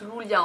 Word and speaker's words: Julia: Ah oui, parce que vous avez sûrement dû voir que ça s'écrit Julia mais ça se prononce Lulia en fait.